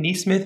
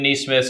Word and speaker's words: Nesmith: It's spelled like Mike Nesmith of the Monkees. Smith with an N-E in front of it.